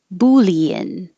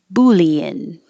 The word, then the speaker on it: boolean: Boolean. Boolean. Since this is a math thing. This I don't know what sentence to use this with. Let's compare 23 and 24 and 28. Bouillon, bouillon, boolean.